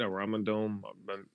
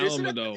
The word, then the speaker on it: Alamodome: And next year it's in San Antonio at the, how do you say it? A Ramadan? The Ramadan. The Alamodome? Wait, Alamodome.